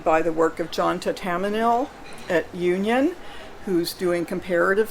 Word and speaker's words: Thatamanil: Tatamanil. ThatamaniL.